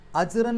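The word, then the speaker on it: أجرا: ആയതുകൊണ്ട് ആയത്ത് അവസാനിക്കുക ആയതുകൊണ്ട് ഫത്തഹ് തൻവീനിലുള്ള ഒരു അക്ഷരത്തിൽ പാരായണം അവസാനിക്കുമ്പോൾ ഫത്ഹ് ആക്കിയിട്ട് രണ്ടക്ഷരം നീട്ടണം മദ്ഹ് അപ്പൊ അജ്റ എന്ന് പറഞ്ഞിട്ടാണ് പാരായണം നിർത്തുക നമുക്ക് ഈ രണ്ട് ആയത്തുകൾ ഒന്ന്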